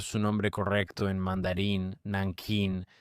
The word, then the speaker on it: Nanjing: Muchos la llaman Nankin, como la pronunciaban estadounidenses y angloparlantes alrededor del 37 y 38 cuando ocurrió la atrocidad. Antes de tener una transliteración completa del mandarín al inglés, la llamaron Nan Kin.